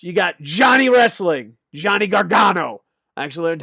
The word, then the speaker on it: Gargano: Johnny Gargano.